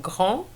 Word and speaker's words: grand: And the pronunciation of grand is affected because we're going to pronounce the D to make the difference between grand, which is masculine singular, and grande, which is feminine singular.